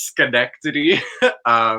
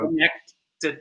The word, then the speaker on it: Schenectady: How do you spell that? It's Schenectady. Connected.